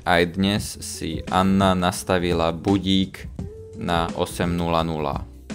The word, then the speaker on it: budík: Ako každý deň, aj dnes si Anna nastavila budík na 8:00. we can see these two letters, the I, and we pronounce as budík.